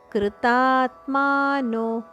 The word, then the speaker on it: ಕೃತಾತ್ಮಾನೋ: ಜಾಸ್ತಿ ದೀರ್ಘ ಹೇಳಬೇಕು ಯತಂತೋಪ್ಯ ಕೃತಾತ್ಮನೋ ಕೃತಾತ್ಮನೋ ಕೃತಾತ್ಮಾನೋ ಮೂರು ದೀರ್ಘ ಅಕ್ಷರಗಳು ನೈನಂ ಪಶಯಂತ ಚೇತಸಹ